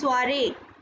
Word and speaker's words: soirée: You can see we have two E's and the first E has accent aigu. That is why it is pronounced as soirée.